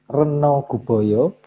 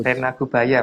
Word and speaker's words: Rena Gubaya: Slide ke-63, sementara itu Sang Hyang Reno Guboyo ditunjuk untuk mengendalikan hama berupa tikus. Rena Gubaya Mas bacanya.